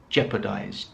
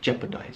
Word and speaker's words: jeopardize: Pronunciation is important here because many people get it wrong, because you have a lot of what appear to be syllables, a lot of vowels in this word, but it's just jeopardize, jeopardize.